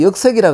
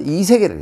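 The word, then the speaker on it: 易色: 7장으로 넘어가면 여기서 가장 중요한 것은 뭐냐면 우리 옛날에 현현 그 역색이라 그래서 약간 좀 부분적으로만 해석했는데 지금 중국에서는 이 훈과학, 문자학, 성문학이 발달해서 그것을 결과를 낸 것이 뭐냐. 이것을 여기서는 역의 일자고 이라고 읽어야 된다. 현현 이색이라고 읽어야 된다.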